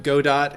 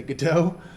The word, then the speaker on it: Godot: you know that there's some disagreement as to how to pronounce it I've heard both Godot and Godot I was a theater major so I'm gonna say good too but I've heard that